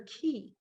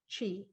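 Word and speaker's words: qi: to himalayas something called her key entirely out of whack but you pronounce it chi the ancient art of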